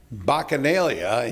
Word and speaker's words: Bacchanalia: All right, in Kalkaska County, talking about the fair and Bacchanalia, and yes, I did pronounce that correctly.